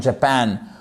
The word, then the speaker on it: Japan: Donc on accendue, on accentue pardon la seconde syllabe. Japan et pas Japan.